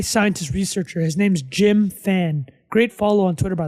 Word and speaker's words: Fan: So NVIDIA's AI scientist researcher, his name's Jim Fan. Great follow on Twitter, by the way. Also great last name. So that's F-A-N. That's not P-H-A-N. That's Jim Fan, but pronounced the same.